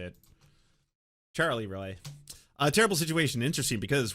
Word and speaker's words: Charleroi: Charleroi, Pennsylvania. Got it? Charlie Roy.